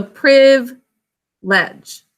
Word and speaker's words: privilege: it's really clear that this ends up being like a silent syllable this whole thing ends up being silent the way we say it okay so priv ledge and then this it